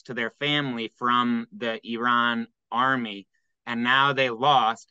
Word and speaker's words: Iran: is like so uh Iran is how you're supposed to pronounce it according to the journalists uh who are interviewing the um the American